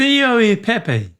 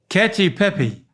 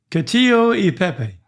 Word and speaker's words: cacio e pepe: It's It's catch. It's got So, then start with that. Cacio e pepe. No, it's still got the io after it. Cacio e pepe.